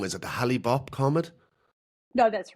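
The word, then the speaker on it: Hale-Bopp: I know I'm probably going to say the name wrong. Is it the Hollib comet?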